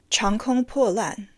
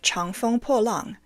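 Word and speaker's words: 长风破浪: He seemingly said, Chang Kong Po Lan, instead of Chang Feng Po Lang, and so he inadvertently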